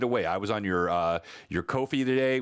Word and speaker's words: Ko-fi: I was on your Ko-fi today, which I learned last week is not pronounced coffee, and you've got all kinds of free content on there.